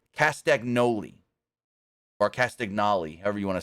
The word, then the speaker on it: Castagnoli: but it's it's actually if you say it phonetically it's castagnoli or Cali however you want to say it